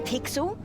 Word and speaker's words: Pixel: name's not weird guy i'm pixel it's easy to remember because it rhymes with pickle so it does i'm